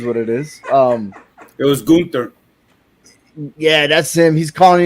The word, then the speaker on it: Gunther: It's not Gunther, it's Gunther, right? Gunther, yeah. Last night. Gunther, right? I think that's not me either, but you know, it is what it is. It was Gunther.